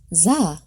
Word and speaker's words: Zan: Zan, pronounced "zah".